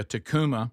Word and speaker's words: Takuma: Takuma or Tacoma? I don't know. It's spelled it's Takuma. Tacu. Takuma. Yeah, Takuma.